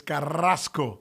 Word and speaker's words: Carrasco: i guess you know if we if we uh say her name the proper way it's carrasco which is always fun to do because there's nothing like being able to roll your arse maybe that's one of